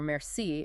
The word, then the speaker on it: merci: Like picturing someone saying thank you with a mare by the sea for merci in French.